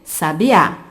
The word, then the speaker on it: sabiá: É o caso de sabia, sábia, sabiá. Sabiá apresenta a última sílaba tônica, portanto, nós chamamos de palavra oxítona.